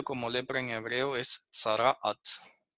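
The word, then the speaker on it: צרעת: que han traducido como lepra en hebreo es sarat sarat así se pronuncia y la voy a escribir en hebreo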